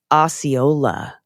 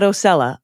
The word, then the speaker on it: Osceola: It's pronounced Osceola, not Ocella, Osceola.